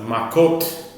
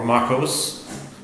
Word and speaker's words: Makot: And we're on DA 20 of Makot or Macos depending on your pronunciation.